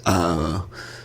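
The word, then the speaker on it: Zhané: Pronounced Zhane is the debut studio album by R&B group Zhane.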